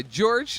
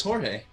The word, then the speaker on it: Jorge: from he's like yeah oh it's jorge jorge okay i did pronounce it terribly wrong i assume i